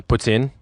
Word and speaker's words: poutine: And they put them over fries and gravy, and it's called poutine. Oh. Or in French Canadian, it's a poutine. Poutine. Wow. So, at least that's how my dad always pronounced it.